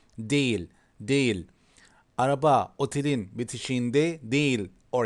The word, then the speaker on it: değil: But as you see here, soft is not kind of not pronounced. Değil, değil.